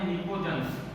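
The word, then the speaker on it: pnictogens: अच्छा, combinedly नाइट्रोजन की family को बोला जाता है निकोजेंस। क्या बोला जाता है ना? पी साइलेंट इसके अंदर एकदम पूरा निकोजेंस, है ना।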